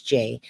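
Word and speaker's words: Jai: quick and Jackie I pronounce my name j j a y so it's spelled j AI but it's j now this one they're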